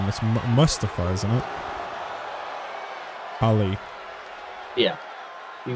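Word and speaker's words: Mustafa: That's mustify, isn't it, Holly?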